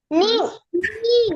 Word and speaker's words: knee: Knee. Yes. Very good. Knee. So do you call it And knee? kneecap. K is silent, ma'am.